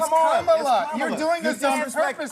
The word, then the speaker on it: Kamala: You said this we don't call you Nancy Nancy. It's Kamala.